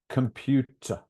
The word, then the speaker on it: computer: letter in computer yeah you may think they're pronounced o and e but no it's a computer computer so the look we